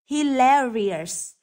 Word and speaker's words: hilarious: complimentary B hilarious hilarious hilarious vậ trọ âm rơi vào âm thứ hai rơi vào từ l next C experience experience